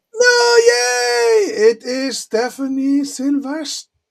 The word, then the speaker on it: Sylvestre: It is Stephanie Sylvest. How do you say Sylvester or do you say Sylvester? Sylvester.